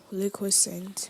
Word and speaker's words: liquescent: Liquescent.